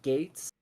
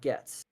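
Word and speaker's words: Goetz: no no no no if your name is spelled g o e TZ it is not gets it's Gates no it's Gates yeah but I don't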